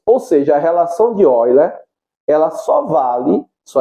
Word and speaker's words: Euler: É escrito Euler, mas a pronúncia é Euler, que ele é um matemático alemão, né?